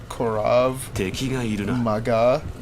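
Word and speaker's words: Krav Maga: It's pronounced Korav Maga.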